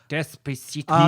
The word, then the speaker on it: Despacito: Desposito. Yeah, he does that. Matt, you said it wrong. I did say it wrong. Well, Despacito.